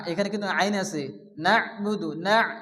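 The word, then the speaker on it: نعبد: ইয়াওমিদ্দিন মালিকি ইয়াওমিদ্দিন এরপরে কি আছে ইয়াকা নাবুদু এখানে ইয়ার উপরে কি আছে আলিফ আলিফ মাদ্দা ইয়া আলিফ জবর ইয়া এখানে এক আলিফ টান দিয়ে পড়তে হবে ইয়াকা না এখানে কিন্তু আইন আছে নাহবুদু নাহ না অনেকে আছে নাবুদু পড়ে এখানে আইন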